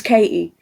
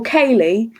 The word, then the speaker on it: Katie: it yeah but anyway I don't pronounce my te's very often so sometimes I'll say hi this is Katie and obviously on the phone it sounds a bit different so people will be like oh Kaye and I'm just